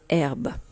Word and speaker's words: herbe: mot en herbe alors tu vois qu'il ya un 1 h muet comme dans la hotte et après airbus il